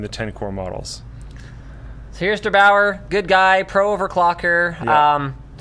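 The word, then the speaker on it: der8auer: I think you pronounced the channel Der Bauer.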